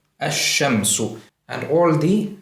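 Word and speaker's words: الشمس: So as you might have noticed, I am not pronouncing the lam distinctly. The lam is assimilated into the first letter, and the first letter is given shadda.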